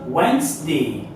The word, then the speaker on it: Wednesday: On a 3 syllabes, mais on prononce Wednesday.